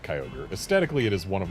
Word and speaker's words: Kyogre: We don't pronounce this Kai Ogre. At least we wouldn't. Unless there was a space or an apostrophe between the Y and the O.